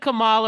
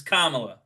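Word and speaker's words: Kamala: Is it Camala or Camela? I know it's it's I know I know it's Kamla even though this whole time covering her for a year and a half.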